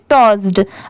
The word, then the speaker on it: tossed: ये है एज, AS, एज, SHE, शी, SPOKE, spoke, THAT, that, SHE, शी, TOSSED, इसे क्या पढ़ेंगे? टॉस्ड।